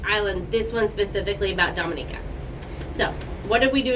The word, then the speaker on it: Dominica: see it was amazing and the name is pronounced Dominica not Dominica good tip what did you like about it